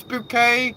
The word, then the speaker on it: Bouquet: Oh, was it Mrs. Bucket? No, it's Bouquet.